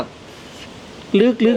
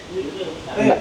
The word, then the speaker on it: ฤกษ์: มี อายุ สั้น ดู ดิ อ่าน ว่า ลึก เลิก ไม่ ใช่ ผม เอิ้น เลิก ครับ อาจารย์ ดู ฤกษ์ ดู ยาม ครับ อาจารย์ เลิก เลิก หรือ ลึก เลิก ครับ เลิก เหรอ เลิก เลิก เลิก ยาม